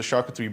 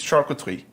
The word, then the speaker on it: charcuterie: Let's get into the charcuterie board for the evening.